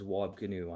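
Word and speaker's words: Wab Kinew: And yes, his name's Wobb Canoe. I'm not mispronouncing that.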